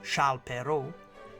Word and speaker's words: Charles Perrault: French author Charles perau pronounced in French as Sha pero is situated on the